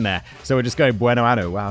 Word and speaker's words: Buenoano: Like, I've got these two pronunciation dictionaries that I use. It wasn't in there. So we're just going Buenoano.